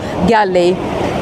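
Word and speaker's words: Galle: So yeah, a lot of people come to Mirissa because they're going to Gale, or Gale, I guess, if you pronounce it the English way.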